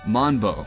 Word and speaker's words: Manbow: pronounced manbo but it's manbo with a Japanese pronunciation apart from the usual